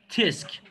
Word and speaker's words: tsk: dilinde göstermek için yapılan TSK yiyecekti Eska Tesk tisk tesbihi okunuyor ama Umarım yarın ol